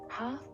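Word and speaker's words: half: ಹೆಚ್ add come ಬಾಚಿಗೆ silent letter the ಕುಮ್ ಹಾಫ್ ಅರ್ಥ ಇಲ್ಲಿ silent letter L ಹಾಫ್ ಇದು ಇಂಗ್ಲಿಷ್ನಲ್ಲಿ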